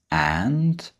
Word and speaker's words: and: The and is pronounced in a really, really weak form, and it's an.